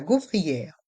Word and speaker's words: gaufrière: La gaufrière. La gaufrière. Dans le mot gaufrière, les voyelles A et U font le son O.